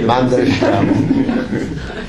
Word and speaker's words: Mandelstam: Mandel, l'amande, Stam. Oui, Mandelstam.